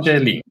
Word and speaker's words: Darjeeling: E ha una bellissima famiglia, tre bambini e vive in Umbria, nel suo centro che si chiama, aiutami alla pronuncia, De, do, do, Darjeeling. Dogeling. Darjeeling.